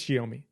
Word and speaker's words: Xiaomi: I think it's Xiaomi. I think that X is like a sh sound, right?